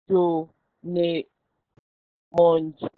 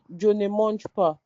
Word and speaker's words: Je ne mange pas: You write the negative sentence, you write Jo ne monj.